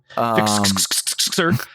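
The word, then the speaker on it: Fixxxer: I just go Fixer. Great, also a great song. Yeah. I just wanted to be extra and pronounced every X. Fixer.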